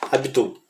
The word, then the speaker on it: Abdol: Pega o faraó vivo, o Ahmed Abdol, se não me engano é o nome dele, né? Ahmed Abdol, ou Abdul, na verdade, né? Se for pronunciar corretamente, eu creio que seria Abdul, que era o faraó vivo